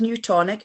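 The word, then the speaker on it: Nutonic: So the company's name is New Tonic, and it's spelled N for November, U for uniform, and tonic, as in like gin and tonic.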